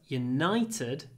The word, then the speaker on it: United: from the United Kingdom so the stress moves Union it's on the first syllable but United it's on the second syllable obviously football teams Manchester